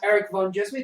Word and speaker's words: ErikVanDjismie: ErikVanDjismie can be found at ErikVanDjismie, that is ErikVanDjismie, and the D is silent.